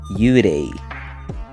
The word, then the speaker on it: Yurei: Well, it's supposed to sound more like the Japanese pronunciation.